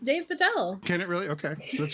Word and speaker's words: Dev Patel: David Patel. David Patel. It actually could be pronounced Dave Patel.